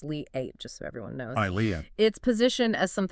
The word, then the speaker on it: Liat: The sources we examine suggest that the Liot show which is led by Leat portal and it's pronounced Lee 8 just so everyone knows Leah its position as something more than just say a publishing project.